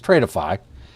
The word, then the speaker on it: Tradeify: So here's the uh Tradeify or as I like to call it, Tradefy because it's just the way it's spelled, but it's Tradeify.